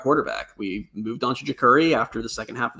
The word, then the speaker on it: Jacurri: It's Jacurri, as I've other people have been saying, and I've learned in the press box tonight is how you pronounce that name.